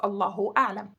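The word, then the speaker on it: الله أعلم: God knows best, which is true, and we pronounce it as Allahu A'lam.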